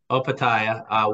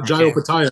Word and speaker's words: Opetaia: And then Jai, how do you pronounce his last name? Opetaia.